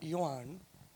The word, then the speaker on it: Johan: Yuan. Did I pronounce it correct? Yeah, good enough. Because J is like Y, right? Yeah. Johan.